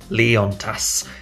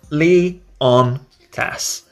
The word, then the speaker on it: Leontas: so the pronunciation is Lian tests easy to remember ly as in the boys namely on opposite of off and TAS as in tassel Lee on TAS easy Lian test when